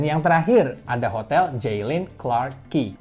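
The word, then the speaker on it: Clarke Quay: terakhir ada hotel jilin Clark key walau tulisannya Kuai tapi ini dibacanya Key jadi Clark key hotel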